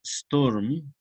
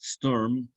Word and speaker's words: Sturm: Goethe propuso la palabra alemana Sturm, igual que en inglés, solo que hay una variante ahí vocálica, storm en inglés, Sturm, una raíz indoeuropea.